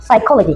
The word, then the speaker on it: psychology: Kita tidak mengenakan psychology atau psychology. I just say kita cuma cukup bilang psychology karena huruf P di sini adalah silent letter.